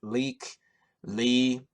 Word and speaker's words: Lykke Li: watching an artist called I think her name is pronounced leak Lee she's an I think